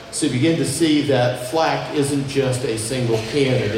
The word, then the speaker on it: Flak: Flak is actually a contraction from a German word, Flugzeugabwehrkanone, F-L-K. And it's pronounced Flak because it's easier to say it that way.